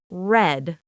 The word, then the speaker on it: read: The spelling of read is the same, but the past sound is red, like the color.